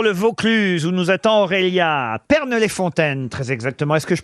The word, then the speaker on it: Pernes-les-Fontaines: grosses têtes pour le Vaucluse nous attend Aurélia Pernes-les-Fontaines très exactement est-ce que je prononce bien le nom de votre village Aurélia